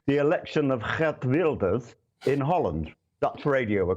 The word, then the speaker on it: Geert Wilders: Hence, and I hope you're going to be impressed with the correct pronunciation, the election of Geert Wilders in Holland.